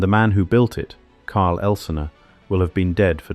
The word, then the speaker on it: Karl Elsener: This is the story of Karl Elsener, pronounced Car Elzener, the son of a Swiss